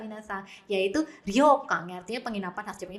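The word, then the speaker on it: 旅館: Ini dibacanya adalah nomor 3 minasang, yaitu ryokan ya, artinya penginapan khas Jepang.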